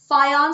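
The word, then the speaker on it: Fajans: था इसका नाम है फयानो लेटर होता है उसको य के तरह अनाउंस य के तरह प्रोनाउंस करते हैं इनका नाम था कात्सी मियर्स फाया तो फाया साहब ने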